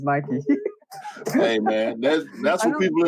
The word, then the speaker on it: Nike: people I've heard people in theuk say Nik and I always feel like it's just um to separate themselves you know or or or to to um just to be different you know just call it night whatever but nobody nobody that I've ever heard talk from Nike calls it n it's always Nike that's the way it